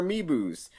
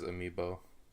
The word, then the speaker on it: amiibo: I was really disappointed with the Skyrim Switch, how it was like, it'll work with your amiibos.